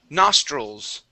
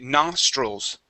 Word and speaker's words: nostrils: word here is pronounced nostrils okay so the i l okay we pronounce that more like a UL stroll okay nostrils nostrils good one more